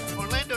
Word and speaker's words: Orlando: city beautiful orlando florida orlando does not have three a's but some people pronounce it that way 68 78 clouds and